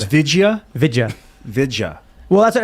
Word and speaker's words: Vidya: So it's Vidya? Vidya. Vidya. Well, that's what everyone's saying. It's been years since I was there, and they said it was Vidya.